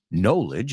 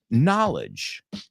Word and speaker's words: knowledge: n n n nah it's not knowledge it's knowledge knowledge say it with me knowledge knowledge but